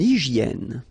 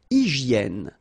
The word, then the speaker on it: hygiène: Une hygiène. So remember we've got this Y here, vowel, and it's pronounced like E. E, okay? Hygiène. H doesn't exist, H doesn't exist in French, so hygiène.